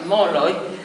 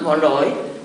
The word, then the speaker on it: Molloy: El mío, irlandés, es inconfundiblemente irlandés en Irlanda, en los Estados Unidos, pero en la Argentina, donde muchas veces se pronuncia Molloy, más de una vez lo han creído judío.